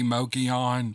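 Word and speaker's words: Mogollon: mogion he CR he he phonetically writes it out so that I'll say Mochi on but it's spelled m-o-g-o-l-l-o-n so I call it mogulon I like that sounds better to me so I'm just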